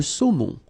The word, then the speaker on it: saumon: Le saumon. O-N, remember, nasal in your nose.